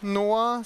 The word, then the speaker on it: NOAA: For your information, it's actually pronounced NOAA, so it's the National Oceanic and Atmospheric Administration, which is pronounced NOAA, if you can read the nice symbols here.